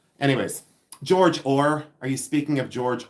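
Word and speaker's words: Ohr: Anyways, George Ore.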